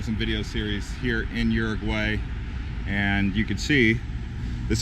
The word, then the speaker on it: Uruguay: you say it Eric why not Uruguay I was always calling it Uruguay lady at the passport day station told me bird white bird way anyways it's actually even not even pronounce that's not even pronouncing it correctly there's a better way that the locals say it so I do take